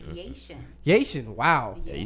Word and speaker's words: Yashin: Yashin.